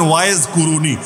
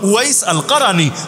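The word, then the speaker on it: أويس القرني: যারা বাংলায় আপনারা বলেন ওয়াইজ কুরুনি, ওয়াইজ কুরুনি ভুল উচ্চারণ, মূল হলো ওয়াইস আল কারানি।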